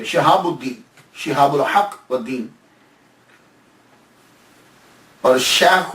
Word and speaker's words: شہاب الدین: نام عمر ہے، لیکن شہاب الدین، شین کے نیچے زیر، شہاب الدین، شہاب الحق والدین، اور